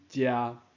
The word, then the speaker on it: 䠍: 安尼即字的读音就是足也切读音遮。